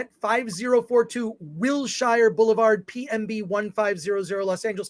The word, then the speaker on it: Wilshire: Wilshire Boulevard, PMB 1500, Los Angeles, California, 90036.